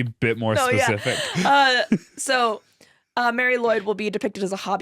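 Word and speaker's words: Mari Lwyd: This is the Mary Lloyd. It's spelled Marilwyd.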